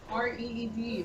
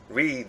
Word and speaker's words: Reed: R-E-E-D, Reed. Read, like read paper, baby.